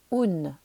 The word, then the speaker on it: un: c'est très simple puisque ça s'écrit comme en français sauf qu'attention cela se dit un puisqu'on prononce toutes les lettre et que le U fait ou donc on va dire